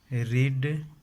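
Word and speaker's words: read: भरकर ₹3 याद कीजिए रेड रेड थे रेड रेड रेड रेड spelling same है बस प्रोनुंसिएशन उच्चारण जो है अलग है रेड रेड रेड से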